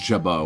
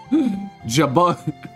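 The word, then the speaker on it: jabot: Oh, yeah, the T is mute.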